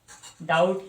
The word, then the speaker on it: doubt: दिया, लेकिन उसका प्रोनाउंसिएशन डाउट ही रखा। इस वजह से ये डाउट जो वर्ड है इसमें जो बी है वो साइलेंट होता है।